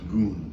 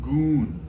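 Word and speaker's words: gun: It's spelled G-U-N if you see it written, but it's pronounced goon.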